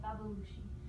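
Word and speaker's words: babbaluci: The lumaca is the Italian word, and babalushi is Sicilian, how you say it, babalushi.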